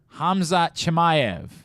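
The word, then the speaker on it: Khamzat Chimaev: pronounce it's hamza hamayev hamzat hamayev hamzad yes i think everyone pronounces the ch hamza chimayev bingo let's make sure we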